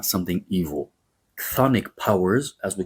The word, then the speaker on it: chthonic: spelled, by the way, it's an incredible spelling in English, Chthonic. Chth.